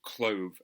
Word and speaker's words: Clov: between Ham and Clove, or Clove as it's pronounced by the actors in the performance that I have uploaded.